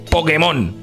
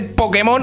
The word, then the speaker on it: Pokémon: peripecias que queráis hacer en ninguno se dice Pokémon y como no podéis pelear por tener razón de que se dice Pokémon ahora decís Pero tú no tienes razón porque